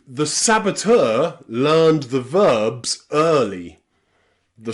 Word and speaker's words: saboteur: Words like saboteur, saboteur. And you can see that T-E-U-R, ter, is pronounced ter with that sound. So EU here is pronounced saboteur.